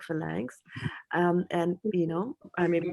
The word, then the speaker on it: phalanx: Phalanx.